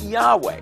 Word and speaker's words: Yahweh: Or the Y, you can pronounce it as Y, and you add vowels, and that's how you end up with Yahweh.